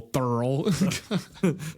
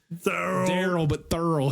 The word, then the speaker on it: Thurl: Thurl. It's like Daryl, but Thurl.